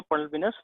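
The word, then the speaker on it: pulvinus: पल्विनस type, ठीक है, इसको पल्विनस प्रोनाउंस करेंगे हम लोग।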